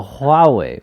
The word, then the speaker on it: Huawei: huawei huawei haha huawei that's it right so ha way they just uh I think was yesterday huh